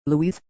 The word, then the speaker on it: lues: Louise pronounced Louis an old name for